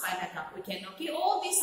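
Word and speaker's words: Bylakuppe: Okay, that is how it is pronounced, Bailagap.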